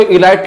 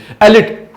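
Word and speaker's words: elite: देखिए बोलते ना भैया उस कॉलेज में तो इलाइट लोग आते हैं पढ़ने के लिए, इलाइट, ही is from इलाइट family. एलिट, इसको क्या बोलेंगे? इलाइट बोलते हैं, लेकिन this right pronunciation is एलिट। क्या है?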